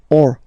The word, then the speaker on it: eau: So you get words that will end with this a, u, combination of vowels, like for instance une o. So remember, when you get these vowels like that, then you get only the sound o.